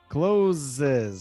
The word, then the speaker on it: closes: the restaurant closed at 4 pm the restaurant what clothes closes so two separate and distinct syllable syllables closes the restaurant closes